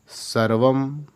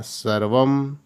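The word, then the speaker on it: सर्वं: वायु सत्यन वाती वायु सर्वम यह अनुस्वार जहां आएगा म का उच्चारण आएगा सर्वम सत्य प्रतिष्ठितम सत्यन धारते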